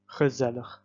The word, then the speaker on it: gezellig: So we would have ge, ze, where the emphasis is put, lig, gezellig.